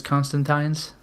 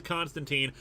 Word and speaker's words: Constantine: American Media always says Constantine I think I think it sounds better to say Constantine but it's a British name it's how it's pronounced so that's what we're